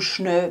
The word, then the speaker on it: schnö: Und wie ihr seht, wird das EL zu Ö. Das passiert zum Beispiel auch bei Welt, das zu Wöd wird, oder schnell, das zu schnö wird.